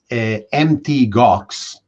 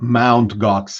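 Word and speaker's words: Mt. Gox: uh to bitcoin uh mt gox which is not mount gox as as some mistakenly pronounce it was one of the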